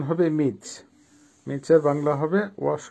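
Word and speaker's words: мыть: বাংলা হবে ধোয়া বা ওয়াশ করা আবারো বলছি উচ্চারণ হবে মিচ মিচ এর বাংলা হবে ওয়াশ করা বা ধোয়া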